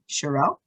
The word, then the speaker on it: Sherell: so it's i'm gonna try your name here shirelle yes yes i'm a winner you got it